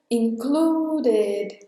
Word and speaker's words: included: Então esse verbo também entra na regra de pronunciar o ED. O include no passado vira included.